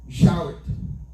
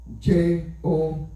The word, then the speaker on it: Jowett: Frère gagnons historien ou bien un philosophe qui dit comme ça que, un écrivain, monsieur Relé Jarrett, si je mal dit en anglais, c'est Jowett. Et comme ça, on va les prononcer.